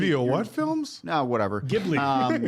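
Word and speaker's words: Ghibli: Gibli. Genobbi. Gibli.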